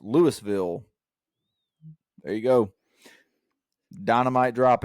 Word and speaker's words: Louisville: a town in Mississippi spelled the exact same way and it's pronounced Lewisville there you go Dynamite